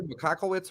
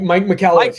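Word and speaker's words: Michalowicz: Andrew McCockowitz or something. I can't even pronounce it. Yeah, Mike McCallowitz.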